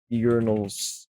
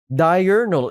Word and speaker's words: diurnal: Urinals. Uh, what is that? How do you pronounce that? The urinal? Diurnal.